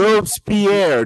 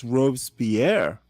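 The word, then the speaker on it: Robespierre: No, you don't know how to pronounce Robespier. It's one syllable if you can manage it. Which leads me to believe, hey, I'm going to believe what I want to believe. Roes Pierre, not two syllables, man.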